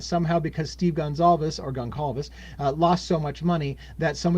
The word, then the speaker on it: Gonçalves: Steve Goncalves, or Gonçalves as some people call it. Again, I think Portuguese pronounces Goncalves, but everybody else seems to call it Gonçalves, and so everybody busts my nuts no matter how I say it.